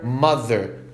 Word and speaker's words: mother: Other, brother, mother. TH vibrado vai ter som de Z.